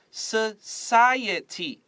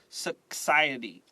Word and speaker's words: society: Society. This C is not K. Don't say society. Just society.